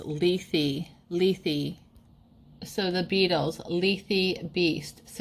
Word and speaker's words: Lethe: Oh my gosh, so this is actually pronounced Lethe.